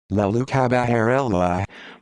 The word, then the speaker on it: Leoluca Bagarella: leo luca baguerella italian pronunciation la lucha baharella born the 3rd of